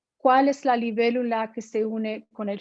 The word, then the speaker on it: libélula: Has that accent on the E, libélula.